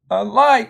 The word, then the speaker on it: alike: And so, alike, what happens, the A is in an unaccented syllable. So, alike, the accent's here on the end.